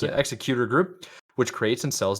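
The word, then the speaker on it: Xecuter: Yeah, that's how you pronounce it. Executor Group, which creates and sells devices that let users play illegal backups on their consoles, like the Switch or Nintendo 3DS.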